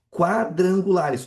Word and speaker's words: quadrangulares: Quadrangulares. Opa, aqui não é dígrafo porque eu pronuncie esse u. Não é quadrangulares, é qua.